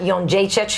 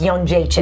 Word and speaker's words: Jędrzejczyk: co-main event, the champion Carla Esparza versus Joanna Jędrzejczyk, who is Polish, was not on The Ultimate Fighter.